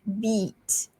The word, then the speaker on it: beat: So we have bit and beat. Beat. So with the second word there, beat, you need to make the sound a bit longer. The vowel need to be stretched a bit.